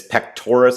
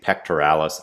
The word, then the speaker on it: pectoris: pectoris can build up and it's pectoris I know a lot of times I say pectoralis I learned how to say it wrong when we think of